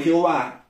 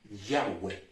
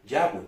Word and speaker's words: Yahweh: La expresión Jehová ni siquiera se acerca a la correcta pronunciación de es tan solo una transcripción, vuelvo a repetir, del hebreo al griego, que de alguna manera u otra sirvió, entre comillas, para seguir ocultando la pronunciación del nombre de Dios. La pronunciación más parecida podría ser Yahweh, que es la pronunciación más aceptada entre los rabinos en Jerusalén.